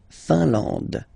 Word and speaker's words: Finlande: IN here, nasal, un. AN, nasal, en. And then D, final not pronounced. La Finlande.